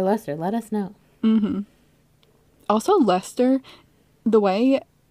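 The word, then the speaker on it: Leicester: in cornwall or lesser let us know also lester the way it's pronounced is does not look like the spelling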